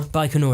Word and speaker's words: Baikonur: what they call it everybody nor Baikonur is how you pronounce yeah Star City I